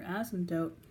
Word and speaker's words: asymptote: Now your asymptote, and yes, that's a funny word, but it is how you pronounce it, asymptote, is y equals 0.